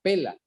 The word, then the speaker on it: Pella: La ciudad se llama o se llamaba Pela, se escribe Pella, donde huyeron estos judíos cristianos.